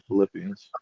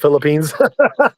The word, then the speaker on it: Philippians: They always got good ones in Philippians. I said Philippines. I know. I was like, I was like, Oh, shit. that's hella funny. It hella looks like it's spelled Philippines I on know.